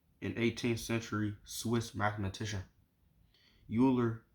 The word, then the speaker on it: Euler: 18th century Swiss mathematician Euler pronounced Euler Oiler who had an important number